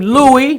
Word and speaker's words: Louis: Corona Queens New York he preferred the name Louis that's another clue which is a French pronunciation of Lewis all right John so